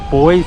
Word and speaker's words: buoys: Those ducks realise they're acting as like boys to drive around. Or buoys, as the Americans say.